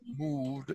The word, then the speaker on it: moved: moved. You want to use an, it sounds like a D sound at the end there. Moved.